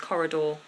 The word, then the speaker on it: corridor: word coridor that's different that's a different vowel ending just because of the way the word set up so we have door at the end it's long or sound Corridor but good suggestion um